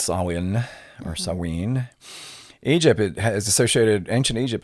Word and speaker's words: Samhain: Sometimes you'll hear it pronounced Samhain, or it's actually more accurately pronounced Samhain.